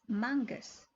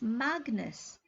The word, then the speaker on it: Magnus: People tended to spell it Mangus, rhymes with Angus. I always corrected them. No, it's Magnus, rhymes with Swagnus.